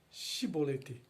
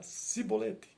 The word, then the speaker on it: chibolete: homem negasse eles o mandavam dizer chibolete se ele era de Efraim dizia sibolete pois o povo de Efraim não consegue pronunciar essa palavra corretamente então eles o capturavam